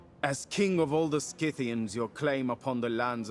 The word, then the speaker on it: Scythians: Apparently I've been saying it wrong my whole life. Scythians? My bad. I always just called it Scythia. It's spelled like Scythe, okay?